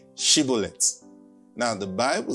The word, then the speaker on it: Shibboleth: Then they would say, "Okay, say Shibboleth." Now, the Bible says, because I think the Ephraimites also cannot pronounce the word, the sound, she.